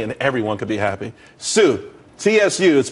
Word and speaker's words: Tsu: there's more money and everyone could be happy csu is pronounced sue though that's that's the website dot